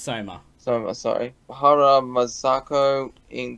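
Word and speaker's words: Sohma: So this guy also voices Soima Kagura in the 2019 version of Fruits Basket. It's pronounced Soma.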